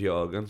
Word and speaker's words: Jürgen: I was watching something and it was Jürgen, so I was like, I don't care if you're singing Jürgen is a red, Jürgen's a red to me, lad.